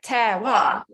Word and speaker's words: terroir: terroir um they do and to pronounce it this is a little trick i go to my ramblers it's tear like tear a bit of paper and then wow so terroir yeah it's really easy